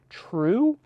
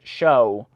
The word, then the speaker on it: trow: True? It's spelled T-R-O-W, but it has to rhyme with shoe. And you don't say it show.